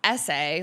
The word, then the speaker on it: SA: and bean as B-E-A-N, SA, like the letters pronounced essay, like college essay, used in sexual assault